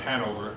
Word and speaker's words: Hanover: stopped visiting called Hanover, Hanover. So he goes, Hanover. The Germans pronounce it Hanover. He dropped the middle end, Americanizing it into our current day, Hanover, and the sales took off.